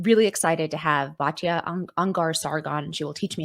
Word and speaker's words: Ungar-Sargon: I usually say Ungar-Sargon, but like my Ungar-Sargon. my grandfather who was Ungar didn't pronounce Ungar like Ungar. He called it Ungar. And my grandmother who's from India, they didn't call it Sargon, they were Sorgons.